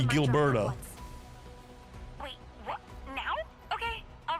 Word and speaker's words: Gilberto: we'll be too late see it's a hard G Gilberto wait what now okay